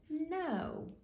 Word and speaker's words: know: a tricky word because when you have a K and an N beside each other Emma the K is going to be silent that means we don't hear it and we pronounce it no all right let's from